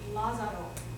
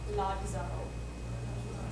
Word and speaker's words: Lazaro: So in English, look at that word, Lazaro. In English, that would be Lazaro, okay? In Latin, you just add a D before you say the Z. Lazaro.